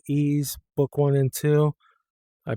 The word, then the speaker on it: Ys: would be uh the ease uh games ease book one and two or how some people call it wise because they just see YS but it's pronounced E.